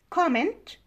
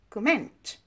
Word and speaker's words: comment: And another English example, comment and comment. Now, comment, this is a noun, and stress is on the first syllable. Comment is a verb, and stress is on the second syllable.